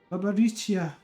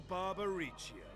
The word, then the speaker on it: Barbariccia: Barbariccia. I'm doing a hard C, it's more of a soft C.